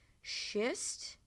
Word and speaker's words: schist: Schist. Yes, you heard me correctly. Sounds a lot like a word you shouldn't use.